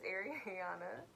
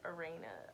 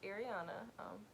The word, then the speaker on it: Ariana: for arie for short people really mispronounce my name too like it's very weird like i had a couple people call me like arena i've it's interesting the way people pronounce my name but it's ariana you call me area